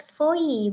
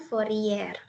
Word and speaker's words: Fourier: Nah, di sini tulisannya deret Fourier ya, tapi karena kata dosen aku, Bu Evi, itu cara bacanya adalah deret Fourier, bukan Fourier. Di note ya, teman-teman.